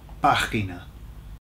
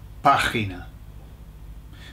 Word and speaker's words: página: Página, página, página. Notice where the accent is, it's on the A, okay? So it's página.